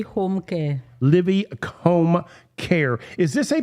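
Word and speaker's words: Livi: And how do you pronounce that? Livy Home Care. Livy Home Care.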